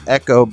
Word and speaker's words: Ekko: with the family dog and his name is Ekko but it's spelled EK KO cuz he's named after a